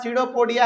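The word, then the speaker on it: pseudopodia: ये यहाँ पर पी जो है ना, ये साइलेंट रहता है, याद रखिएगा। ये जो यहाँ पे पी है ये साइलेंट रहता है, इसको हम लोग कहते हैं सीडोपोडिया।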